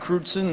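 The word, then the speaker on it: Crewdson: forward uh yeah my name is uh kudon and that's spelled c r e w DS o n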